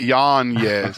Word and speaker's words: Yanez: Got it, Yanez.